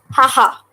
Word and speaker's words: haha: So in hiragana, see here, two syllables are used. Ha, ha. So simply, you have to write the ha syllable 2 times.